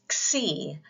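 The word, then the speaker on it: ξ: The next is xi, and you can pronounce that as like the KS sound or an X in fox, xi.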